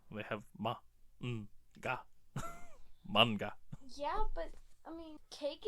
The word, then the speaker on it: manga: like what manga well that's technically how it's pronounced I need to be a better about that it's manga if well us Americans like to say manga but it's manga cuz it's a Japanese word they have MAA manga